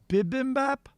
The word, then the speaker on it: bibimbap: I did the beef and veggie, I don't know how you'd pronounce it, bibimbap?